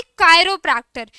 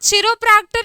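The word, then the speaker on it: chiropractor: इसकी प्रोनाउंसिएशन है बच्चा party कायरोप्रैक्टर। इट्स नॉट चिरोप्रैक्टर, it's called कायरोप्रैक्टर।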